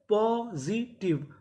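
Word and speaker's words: positive: SIZ TIVE आखिरी में ई है, हमें ई का उच्चारण नहीं करना। तो मीनिंग क्या बनी? पॉजिटिव।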